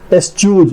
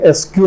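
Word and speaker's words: eschews: Surveillance है, निगरानी है, एस्च्यूज, या इसका उच्चारण करेंगे, एसक्यू नहीं पढ़ेंगे, एस्च्यूज, च उच्चारण होता है, एस्च्यू का जो मतलब होता है वो होता है परहेज रखना, दूर रहना किसी चीज से।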